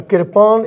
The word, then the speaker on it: kirpan: Now, Kirpan is a word which has two syllables, Kirpan.